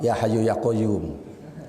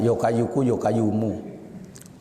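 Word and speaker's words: يا حي يا قيوم: Ya Hayyu Ya Qayyum. Itu sajalah. Ya. Itu pun bacanya salah. Yokayuku yokayumu.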